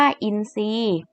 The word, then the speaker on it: อินทรีย์: ทราบ อ่าน ว่า ทราบ อินทรีย์ อ่าน ว่า อินทรีย์ ทรัพย์ อ่าน ว่า ทรัพย์